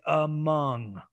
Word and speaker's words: among: this word here right i started off with the schwa but then when i got to the stress syllable i changed it to a wedge but it's among among and of course